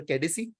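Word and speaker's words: Caicedo: हम चुकुएमेका को लेके आ गए, एंड वी are still after केडिसी, that is हाउ you pronounce that name, हम उनके पीछे हैं।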